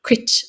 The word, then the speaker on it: Cruit: the coast of dunal called Cru or crit as the locals call it crit so yeah so I